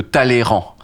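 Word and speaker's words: Talleyrand: classe il y a le y en milieu de mots qui se prononce pas celui de talleyran tu vois celui-là je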